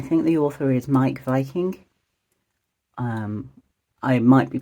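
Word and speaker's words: Wiking: the author is Mike Viking um I might be pronouncing his sir name wrong it's a w but I think in Danish you like Pronounce W as V's I don't know where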